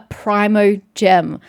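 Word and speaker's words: Primogem: So it's a primordial gem, a primo gem. That's why it's meant to be pronounced that way.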